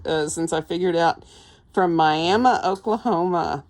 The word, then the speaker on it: Miami: I figured out from Miami, Oklahoma. That's how we say that in Oklahoma. We say Miami. It's actually spelled like Miami in Florida, but we say Miami because we're in Oklahoma and we can.